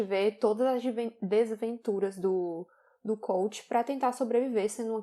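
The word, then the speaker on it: Kvothe: está pensando, é que o nome dele escreve Cavote, né, mas pronuncia coach.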